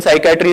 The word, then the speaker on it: psychiatry: Very much like the P in psychiatry is silent.